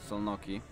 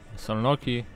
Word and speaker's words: Szolnoki: Yeah, from what I remember in the Hungarian, S and Z is pronounced S, and S itself it's pronounced Sh.